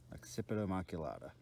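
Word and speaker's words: occipitomaculata: red belly stir area occipital maculata occipital maculata and that is definitely the correct way to say it is the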